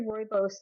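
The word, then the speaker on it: rooibos: Uh the mask for this step, I mean our this facial is our cranberry royos moisture mask. And everyone always asks me how do you pronounce that? It's Royos.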